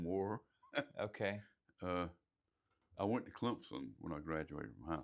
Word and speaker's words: Clemson: Clemson. Yeah, there's a P in there, sounds like, but if you look at the way it's spelled, not.